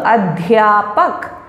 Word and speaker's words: अध्यापक: Notice the sound dh, adhyapak, adhyapika, vidyalay. So it is not the, you have to be very careful about how you pronounce it.